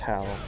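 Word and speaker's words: Hau: oh the how it's spelled h Au U pronounced how and kohi is is spelled uh k a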